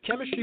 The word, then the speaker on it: K3MISTRY: So Chemistry Productions, that's spelled K3MISTRY.